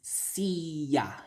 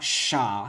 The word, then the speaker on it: siya: It's not sha. I don't see any sh sound in there, so stop shushing it because it doesn't need to be shushed, right?